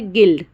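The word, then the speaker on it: guild: में आई आ रहा है तो इसलिए यू साइलेंट हो गया है फिर गिल्ड फिर गिल्ट गिटार गार्ड बिस्क बिस्किट ठीक है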